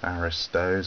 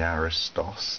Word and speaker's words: Aristos: his of the novels the aristos or the aristos depending on your pronunciation book of aphorisms short